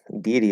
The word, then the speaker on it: deity: and can you break them down into individual syllables yeah so um deity deity is deity um i think there's another way